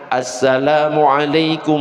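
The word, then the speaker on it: السلام عليكم: Pengucapan salam yang benar adalah ada alif lamnya. Berarti gimana? Assalamualaikum warahmatullah, assalamualaikum warahmatullah.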